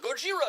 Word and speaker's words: Gojira: They were like, Gojira, Gojira. No, but it's spelled Gojira.